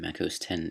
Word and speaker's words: Mac OS X: also the X in macOS 10 is pronounced 10 because of Roman numerals.